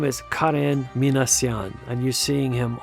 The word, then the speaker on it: Karen: So Karen Minan and by the way that's the way you pronounce it. It's not Karen but Karen.